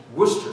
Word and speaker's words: Worcestershire: now if you're British and can mangle the pronunciation about anything it's called a difficult after all the worst Worcestershire Shire sauce is Worcester sauce and bread why can't the English learn